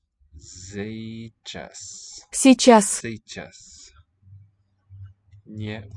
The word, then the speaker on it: сейчас: So the one that looks like a C, that's an S. Yeah. And J for, this means E sound but as a consonant with that little mark on top. So say. And then ch, I don't think I have on the keyboard. So I click it here. S, right? Say chess.